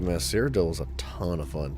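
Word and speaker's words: Cyrodiil: what to do um do you mean Citadel no it's cidel now we must secure this place it's a location cidel is spelled c yr o d i i l um it's this part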